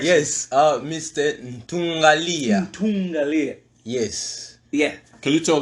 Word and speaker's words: Ntungalia: Ntungalia. Yes. Yeah. Can you tell the people what's the origin of the name? The origin of the name Ntungalia, it's a derivation from my normal name, which is Ntunga.